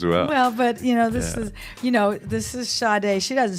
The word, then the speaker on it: Sade: Well, but this is Sade. She doesn't spell that right, does she? I mean, what's wrong with how do you where's get the that? H? Right. Sade, S-A-D-E.